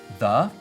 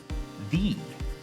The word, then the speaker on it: the: up with some examples duh and thee they are two ways of pronouncing English's only definite article so they mean the